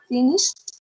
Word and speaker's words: finished: O sea que, ¿cómo podría pronunciar más fácil ese finished? Le agrego esa t.